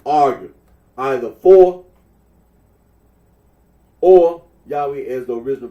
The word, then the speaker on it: Yahweh: that of those who regard this name as anciently pronounced yahwe like the Samaritan well okay well as